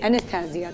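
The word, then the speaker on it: Anastasia: है this is एस्टिया एनिस्सिया कहते हैं इसको प्रोनाउंस करते हैं एस्स एनिस्सिया अच्छा एनिस्सिया ये कंटोर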